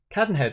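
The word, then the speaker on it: Cadenhead: browsed past it but it is the Caden head or the cabin head I should say cat and head say it like the Scottish cat and head small batch um I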